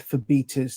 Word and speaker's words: Phobetor: myself it um i i've been going with for beta's children uh on the same this the same sort of logic that the greek name phoebe it's not phobia so i'm thinking it